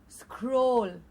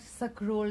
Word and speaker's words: scroll: repeating the words scrap scroll again very very commonly mispronounced very very often mispronounced no it is not suck roll down yes so many